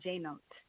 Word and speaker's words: Jeannot: My last name is Jeannot, but my friends call me Jeannot. Jeannot. All right, I got it. Jeannot. That would kind of reflect the show, Jeannot, and I know your social media as well, Jeannot.